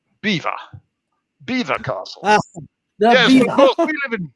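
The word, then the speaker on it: Belvoir: having the upper hand how that is actually pronounced is beaver beaver castle we live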